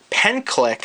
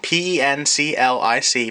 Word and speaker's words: Penclic: It is the Penclic, and I hope I'm not pronouncing that wrong, P-E-N-C-L-I-C, Penclic Professional Typist MK1.